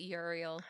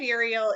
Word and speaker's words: Uriel: Um, I always said it Uriel. Me too. Uriel. Yeah. That makes sense to me. Yeah. I think of the name Muriel, you know?